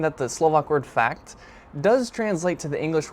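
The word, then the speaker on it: fakt: Now it sounds like the English word fact, kind of meaning an undeniable truth of something, but in Slovak, first off, it's spelled differently.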